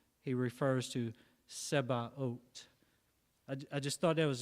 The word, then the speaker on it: Sabaoth: It's Sebaot. So it looks like it's pronounced it looks like we would pronounce it almost like Sabbath or Sabaoth, but the Hebrew word,